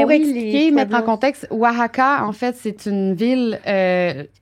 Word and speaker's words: Oaxaca: Demande pas de prononcer Oaxaca, par exemple. Prononçons Oaxaca, voir. Mais je me souviens plus comment... C'est X en premier? Oaxaca. Ouais, Oaxaca.